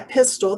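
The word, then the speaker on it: Pistole: last name correctly yeah pistol the e is silent it's pistol exactly and that that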